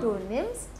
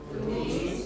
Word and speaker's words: nimmst: Here you have a double M, so you have a short vowel. Du nimmst.